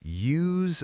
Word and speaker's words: use: Is it use like user? This is crucial. The verb to use. I use my phone has a z sound.